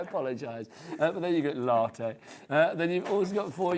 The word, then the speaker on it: latte: Latte, says Jimmy, or latte. How do you say it? Latte. You said latte to begin with, though, didn't you? You said latte. You rhymed it with like natty and batty.